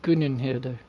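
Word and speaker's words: Gunnhildr: I think it's pronounced Gunn and Hilder. I mean technically there's no uh syllable between the the second and third ends but if I'm right from although Germanic and uh and Scandinavian phonetics are are slightly elusive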